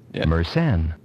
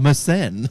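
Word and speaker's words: Mersenne: so here we go here we go ready meren a meren thank you thank you pronunciator meren Primes uh 2 raised to the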